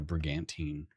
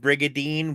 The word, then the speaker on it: brigantine: Thought it was a brigade, not a brigantine. Uh, it's uh brigantine. Brigantine. Yeah. Which sounds like brigadine, which is probably the confusion.